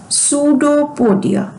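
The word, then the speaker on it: pseudopodia: false foot known as सूडो पडिया इसको पी को हम नहीं पढ़ेंगे पी इज a silent word सूडो पोडिया mean false for example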